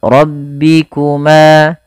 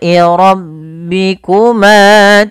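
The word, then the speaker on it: رَبِّكُمَا: Fal rabbikuma, ro-nya tebal, b-nya tipis, ma tabi'i, adanya fathah bertemu alif, pada fal ma ketemu alif.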